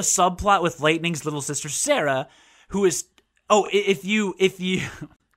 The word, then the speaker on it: Serah: But the four of the rest of you are safe, and Sarah, which is spelled Serah, by the way, because they can't do anything right.